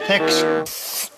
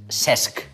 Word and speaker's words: Cesc: ¿Este? Sex. Casi. Es Cesc.